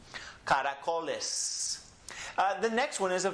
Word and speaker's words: caracoles: So this is caracoles. The co gets emphasized.